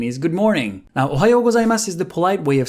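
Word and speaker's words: ございます: The kana is su. So if you really wanted to be proper, you would say Ohayo gozaimasu.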